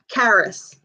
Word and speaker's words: Karis: you did the audiobook how do you say her name Karis which is which is Welsh for um loved one oh I didn't know